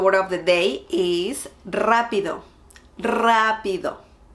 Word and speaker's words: rápido: Today we are going to learn something easy and rápido. Hi everyone, the word of the day is rápido. Rápido. You need to roll your R on this one.